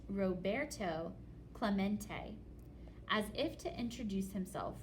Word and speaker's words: Roberto Clemente: To Clement? It echoed in the near empty stands. Roberto Clemente was his name, and this is pronounced Roberto Clemente.